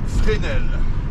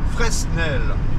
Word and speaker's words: Fresnel: nous allz voir l'avant hein bon alors institut frel alors il y a un qui ne se prononce pas sinon ça ferait Fresnel hein d'accord alors ce bâtiment les amis ça